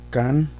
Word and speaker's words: canción: Y si lo escribimos en la otra, en la última sílaba, canción, canción, canción, canción, lo llevaría en la O.